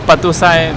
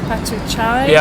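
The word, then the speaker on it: Patuxai: In Laos, what do you say? We call Patusai. Patusai. Patusai mean the Victoria Gate. I didn't know if it was Patuchai.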